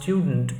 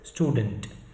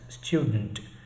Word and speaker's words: student: it must be pronounced student but you know the non-native speaker tends to drop the Y sound in between that comes in the word initial cluster and he pronounce it wrongly as student but the actual pronunciation